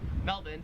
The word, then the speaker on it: Melbourne: The Australian accent just leaves the R off if it's ever in the last syllable of a word. So you would pronounce Melbourne, Melbourne, and you would pronounce Cairns, Cairns.